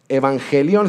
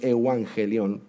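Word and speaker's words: εὐαγγέλιον: voy a pronunciar esto, evangelión sería la manera más fácil de pronunciarla, pero es evangelión, la original.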